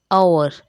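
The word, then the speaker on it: hour: ठीक है, तो वेडनेसडे तो D silent, आवर H silent, knife के silent, com B silent, sign जी साइलेंट।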